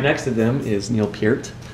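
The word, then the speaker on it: Peart: them is Neil Pier I learned how to to say his name properly because everyone got on to me when I did a rush video and said it per which is how I've always heard it my whole life so forget you guys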